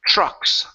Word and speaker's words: trucks: TR sound so here the TRS actually pronounced like a CH are so instead of saying trucks ok this is sure trucks truck huh trucks almost push